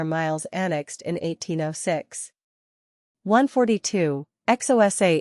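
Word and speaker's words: Xhosa: 142 XOSA is pronounced with a preliminary click of the tongue like a cluck to encourage horses.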